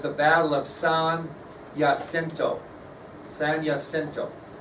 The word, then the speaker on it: San Jacinto: San Jacinto. Starts with a J, but it's pronounced Jacinto.